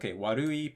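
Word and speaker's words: 悪い: So we see, warui, pitch accent is on the second mora.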